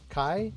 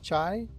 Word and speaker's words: Chai: 6-in Chai guitar replica, Kai. Chai. Kai, it's spelled Chai. We're going with Chai.